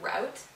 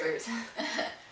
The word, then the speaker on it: route: What you say, some people say what, route? Oh yeah. Root, it's root.